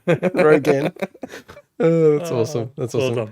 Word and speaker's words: Rogen: Rogaine. Rogen.